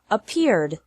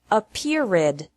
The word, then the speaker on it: appeared: past of appear is appeared appear has two syllables and appeared also has two syllables don't pronounce it appeared with three this is